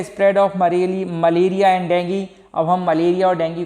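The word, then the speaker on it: dengue: एज a carrier of डेंगू। अब देखिए एक और फीवर होता है डेंगू फीवर, का नाम सुना होगा आपने, डेंगू भी बोलते हैं और डेंगी, ठीक है, मैं इसका प्रोनाउंसिएशन डेंगी कर रहा हूँ, ठीक है।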